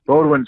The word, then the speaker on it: Bodwin: And at boot camp, the drill instructor asked me how to pronounce my last name. And I said, Bodwin, sir. And he said.